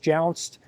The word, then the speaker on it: jounce: This is your last line of defense against jounced that might hit, sorry, not jounced, jounce, hard word to pronounce, that might hit that unibody chassis.